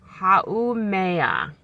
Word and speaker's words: Haumea: And it's pronounced Haumea. Haumea.